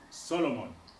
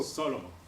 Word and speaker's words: Solomon: except just the highlights Solomon sitting Solomon oh Solomon about about notice that his stress is on the first syllable sorrow we'll talk about